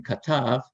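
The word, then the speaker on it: כתב: have been katav, but it's pronounced, the initial K is pronounced K in katav, but in another form of the same verb, yichtov, he will write, that K becomes an X.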